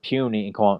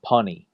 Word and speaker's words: puny: of Amazing Spider-Man, and trying to pronounce the word puny and saying punny.